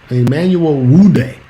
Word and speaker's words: Nwude: So Emmanuel Wude, I guess the N is silent.